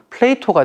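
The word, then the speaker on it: Plato: 만드신 장본인이 바로 플라톤입니다 근데 이제 이게 영어식 발음은 플레이토가 되고 그래서 플라토스쿨이라고 저희가 명명을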